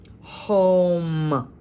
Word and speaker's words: home: let's sound it out this is long o o m and silent e om home this is my home